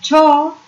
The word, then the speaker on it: tau: which is given by tau, and tau, this is the symbol for the torque, we call it tau, TAU. This is our symbol tau, and this is, we pronounce it as TAU, tau.